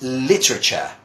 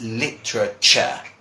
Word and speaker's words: literature: And this is literature. I know this one is very hard to pronounce. That's literature.